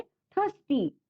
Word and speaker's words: thirsty: जो आपका फर्स्ट word है थर्स्टी, THIRSTY। बच्चों यहाँ पर जो आर है उच्चारण करते समय प्रोनाउंसिएशन में उस आर पर हमें जोर नहीं देना है। आर यहाँ पर साइलेंट है।